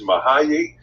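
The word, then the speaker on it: Mihály: to pronounce and it the way it is pronounced is mahay and i'll say that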